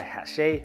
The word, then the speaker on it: Hachette: brought to us by Hachette. It's kind of spelled like hatchet with 2 T's.